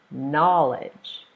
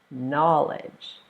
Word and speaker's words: knowledge: the word is knowledge so the rule says if it's a two-syllable noun you stress the first syllable so knowledge knowledge the second part of